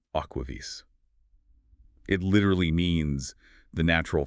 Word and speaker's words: AquaVis: And that's pronounced Aquaves.